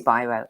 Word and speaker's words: Biro: Is it Biro? Is it Biro? Yeah, no, How do you Biro. pronounce it? It is Biro.